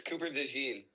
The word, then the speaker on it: Cooper DeJean: Rhymes with a Michael Jackson song. Oh, is it? You're gonna get demonetized, man. I don't know. Is it Cooper DeJean? Yes, it's Cooper DeJean.